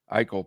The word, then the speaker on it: Eichel: Eichel probably. It rhymes with Eel.